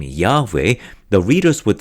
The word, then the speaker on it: Yahweh: Bible y h whh which was most likely pronounced Yahweh according to biblical scholars in the English translation